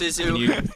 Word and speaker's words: Zissou: I think it's pronounced Zissou.